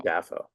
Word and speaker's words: Dafoe: That's right, Willem Willem Dafoe. Dafoe. That's how you say his real name. That's how you say his name.